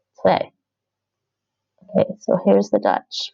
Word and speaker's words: twee: Ik heb twee moeders. Twee. Okay, so here's the Dutch for you. Ik heb twee moeders. The W is more like a V.